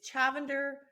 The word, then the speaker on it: Chavender: do you say it i always say it's chavender like lavender well people listeners the